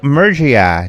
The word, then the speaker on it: Murgia: on the show for the first time Joe Murcia did I say that right he said it